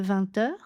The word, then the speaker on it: vingt: Donc là, on fait aussi la liaison hanté en 20 années.